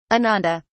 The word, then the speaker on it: ananda: two live in ananda ananda i repeat it just the way he says it with the accent on the first syllable ananda awesome what does